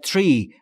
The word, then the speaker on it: tree: From as the tree. از اون درخته, از اون درخت مشخص. تلفظ tree رو دقت بکنید دوستان. تیری نیست. Tree. تری بین تی و آر صدایی وجود نداره.